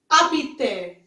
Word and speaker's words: habiter: Next we have habiter. Habiter. I repeat, habiter. Now here H is silent.